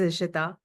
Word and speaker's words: Ishita: It's actually pronounced as I isa and uh by training